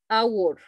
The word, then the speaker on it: hour: Entonces esta consonante que ustedes ven, no se la menciona, es hour, an hour, an hour.